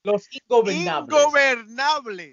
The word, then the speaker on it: Los Ingobernables: You're still saying it wrong. Los Ingobernables.